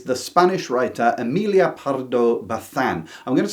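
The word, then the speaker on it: Bazán: In 12th place is the Spanish writer Amelia Parardo Bethan. I'm going to say Bethan because I've been told the zed is like a th pronounced in in Spanish, but I might butcher it anyway.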